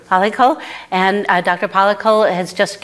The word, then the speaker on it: Palackal: Am I pronouncing that right? Palackal.